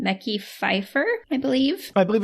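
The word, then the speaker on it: Mekhi Phifer: to pronounce his name mecky Fifer I believe I believe it's Michelle Fifer Daniel it is not Michelle Fifer m e k hi I mecky Fifer okay and it turns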